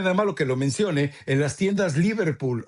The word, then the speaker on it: Liverpool: malo que lo mencionas Liverpool o Liverpool? Allá no, allá no es como allá se pronuncia con de manera aguda en en las tiendas Liverpool de México, eh, cuesta 2,099 pesos.